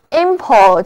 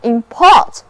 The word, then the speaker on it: import: 那遵循那个名前动后的读音规律，import 就是名词进口，而 import 就表示动词进口。